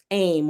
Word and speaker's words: Aim: or the sound um aim or um yeah aim it's it's spelled like aim a i am but it's really the feminine form of om so it's like oh